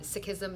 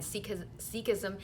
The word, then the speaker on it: Sikhism: The correct pronunciation is Sikh and Sikhism, not Sikh and Sikhism.